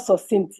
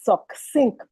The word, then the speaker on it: succinct: The word extemporaneous was not properly pronounced. The word is extemporaneous. The word succinct emphasis on the sea not succinct is succinct.